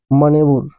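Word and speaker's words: manoeuvre: Next word है आपके सामने वो वर्ड है आपका मनेबुर।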